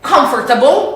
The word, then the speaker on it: comfortable: So we said comfortable. Let's repeat together. Comfortable, with the stress on this first syllable and this middle syllable that doesn't exist.